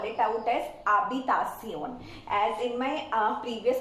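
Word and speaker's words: habitación: I have mentioned that H is silent that's why here you will not listen the sound of H and we call out this word as abbitasion abacasion the next one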